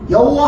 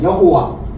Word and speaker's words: 여호와: 여호와. 여호와라 그러잖아요. 그런데 보세요. 여호 신성 사문자. 그런데 우리는 우리는 여호와라고 발음하지만은 그것은 독일식 발음이에요.